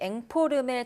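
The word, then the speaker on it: informel: 네, 박서보 화백이 앵포르멜 작가, 국내 최초의 앵포르멜 작가라고 말씀해 주셨는데요. 앵포르멜에 대해 자세히 알려주시죠. 네, 이 앵포르멜이란 영어 인포멀의 프랑스식 발음으로 추상 미술의 일종인데요.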